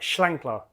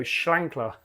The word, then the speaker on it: Schlenkerla: I've even wrote it down here in a way that I would almost spell it as it sounds, like the Schlenkerla. It's like Schlenkerla. It's almost like the lamb shank, you know, Schlenkerla.